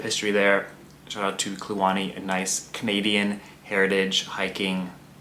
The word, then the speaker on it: Kluane: uh definitely check out clani mountaineering I'll link it down in the description cuz the spelling and the pronunciation doesn't really line up to me anyways also clani named after the national